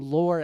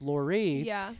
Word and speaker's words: Lore: together and I've brought you on as Jacqueline Lur Edwards. That's okay. And um someone told me quite recently that it's Lorie and I've been embarrassed to speak with you ever since.